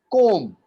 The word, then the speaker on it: comb: बॉ का साउंड नहीं है. There is no sound of बॉ. Comb. I am combing my hair. I am combing my hair. Combing my hair. So it's only comb. B is silent.